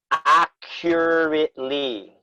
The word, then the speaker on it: accurately: or mute from moodle accurately acutely good so the double c means it's like a little bit like a q sound right yeah acure a